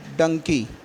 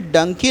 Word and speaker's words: donkey: ठीक है, इसको प्रोनाउंस करते हैं डंकी। ये डंकी नहीं होता है, डोंकी होता है।